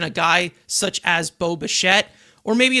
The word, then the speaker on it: Bichette: Josh was saying it right in sync, saying Bichette.